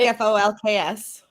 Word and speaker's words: Folx: The word is spelled Folx, and I've never said it out loud. It's like Folks.